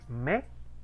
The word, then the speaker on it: May: Diptongo AI, ¿cómo se pronuncia? Bue, Me, así tal cual, me, me. Yo sé que siente uno como que falta algo ahí, pero así es, muchachos, me, tal cual, me, Mayo es me.